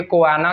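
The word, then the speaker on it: choana: अब ये कोआना क्या होता है? CHONA इसकी स्पेलिंग होती है, और जो हमारी नोज की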